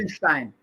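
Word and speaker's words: Gertsenshtein: The Gershenstein, Gershenstein effect. Boy, I hope I'm saying this correctly. Gertzenstein. You know how hard it is to spell that?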